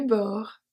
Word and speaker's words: bord: Du bord de mer. The only silent letter here is the D at bord.